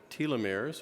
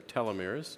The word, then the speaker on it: telomeres: But I'm going to talk about one aspect of longevity, which are called telomeres, or telomeres, depending on how you want to pronounce it, which are very important components of our bodies that regulate our aging process.